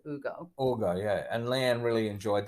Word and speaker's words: Hugo: one is called well it's spelled Hugo but they pronounce it Ugo Ugo yeah and lean really